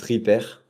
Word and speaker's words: Rippert: Alors, c'est vrai que je l'ai entendu pas mal de fois mais non, mon nom il se prononce rière sans le thé à la fin.